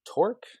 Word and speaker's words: Torc: And the other restaurant that really impressed me was Torque. It's spelled Torc.